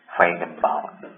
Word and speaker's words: Feigenbaum: Ya, ini bacanya Feigenbaum. Jadi beliau merupakan ahli statistician ya, ahli statistik dari Amerika.